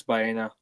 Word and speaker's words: Baena: Yeah, Alex Baena.